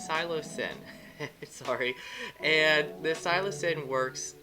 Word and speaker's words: psilocybin: it the scio silo i'm going to give this too many syllables the cylo been cylip and xylibin silo sin it is silo sin sorry and the silasin